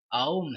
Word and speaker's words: ॐ: तो अधिकतर जो लोग हैं वो उसे ओम कह रहे हैं, जो कि इसका गलत उच्चारण है। ये ओम है, यानी ये अ उ और म इन तीन अक्षरों से मिलके बना हुआ है।